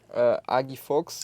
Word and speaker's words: Agui Fox: So we've got my guy, Agui Fox. Is that how you pronounce it? Agui Fox. Agui Fox. But you're actually doing right because I'm pronouncing in the Portuguese way.